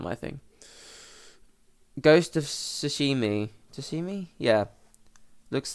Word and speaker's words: Tsushima: You play as Jin Sakai, the last samurai on the island of Tsushima. Yeah, that's how you say it. Shush, like a shh.